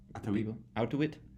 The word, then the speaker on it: Auttawich: his name is although it's not pronounced so how do you pronounce your name again for out to it and it's he's from Thailand this is the